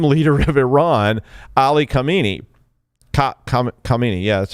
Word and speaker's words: Khamenei: Khamenei, yeah, that's how you say it.